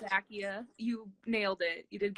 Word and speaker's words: Zacchia: which most people don't even get close it's Zakia you nailed it you did good awesome yes what do you often get called instead what do they pronounce it I get everything from Zachariah to Zakia to Zach I get zachia a